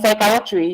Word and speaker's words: psychiatry: a nation say prefer psychic and psychiatry you must never sound the p psychiatrist you call the